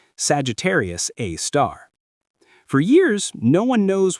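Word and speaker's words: Sagittarius A*: They call it Sagittarius A star, pronounced Sagittarius A star.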